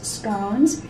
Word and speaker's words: scone: would have finger sandwiches, scones. We pronounce it scones here in the U.S., but it's actually pronounced scones.